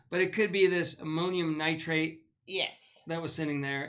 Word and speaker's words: ammonium nitrate: Do you know how to pronounce that word? AMMONI? Ammunition? No, ammonium nitrate.